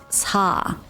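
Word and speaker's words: 사: Cause I think this is my assumption, but I think it's because 4 in Korean you pronounce it as sa.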